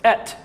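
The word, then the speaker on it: את: And if you were to pronounce the Aleph and Tav, it's Et.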